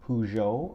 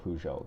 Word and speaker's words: Peugeot: it's that number 303 Pujo apparently that's how you pronounce it in French don't quote me on that that's just the way I've heard people say and it's a it's a 1907 Pujo that the models from